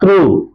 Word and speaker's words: through: ത്രൂ, THROUGH, ഇതിന്റെ ഉച്ചാരണം ത്രൂ, THROUGH, ത്രൂ.